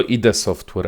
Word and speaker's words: id Software: To nie jest nazwa amerykańska, tylko to jest nazwa chyba niemiecka, nie jestem pewien dokładnie. I mówi się ID Software, także ktoś mnie już